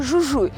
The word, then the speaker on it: Jujuy: - Làng Purmamarca nằm ở tỉnh Jujuy, nhưng trong tiếng Tây Ban Nha, chữ "ha" được phát âm trong cả hai trường hợp.